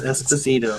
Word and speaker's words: Esposito: Is that how you pronounce it? Yes, Esposito.